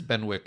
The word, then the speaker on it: Benwick: Wasn't with a silent W? Yeah, it was again subtitles, and I'm just like, is it Bennick or Benwick? It's Benwick if you're reading it if you're out an loud. uncouth American.